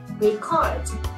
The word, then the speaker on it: record: vào âm cuối nhá Khi mà chúng ta nghe người bản xứ đọc là âm cuối ạ record thì lúc này thì cái từ này là biến thành động từ rồi Tức là ghi